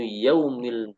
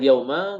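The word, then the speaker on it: يومِ: sini maitu muhammadan mu Yaumil jumati ini kita membacanya yaumi enggak boleh Yauma enggak boleh yaumu maka maitu Muhammad un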